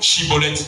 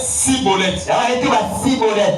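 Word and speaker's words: schibboleth: Si tu es Galadite, prononce le mot chibolet. Et comme il n'arrivait pas à prononcer correctement, il pouvait pas dire chibolet parce qu'il n'était pas originaire de Galate. Cibolette quand il disait cibolette, on dit "Ah non,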